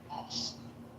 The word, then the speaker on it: ask: OSC is the correct pronunciation, but we all got different dialects here in America.